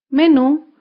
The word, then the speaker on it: menú: en la última sílaba por ejemplo la palabra menú menú se acentúa en la última sílaba menú las palabras agudas llevan